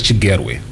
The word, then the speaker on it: Chigerwe: It's Chigerwe. Okay. You can say it, 3 syllables. Chigerwe.